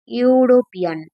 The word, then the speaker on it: European: তো এই যে ই দিয়ে শুরু হচ্ছে ঠিকই, কিন্তু এটার প্রোনাউন্সিয়েশন হচ্ছে ইউরোপিয়ান, ওয়াই ও। এই যে প্রোনাউন্সিয়েশনটা, এই প্রোনাউন্সিয়েশনটা হচ্ছে কনসোনেন্ট প্রোনাউন্সিয়েশন।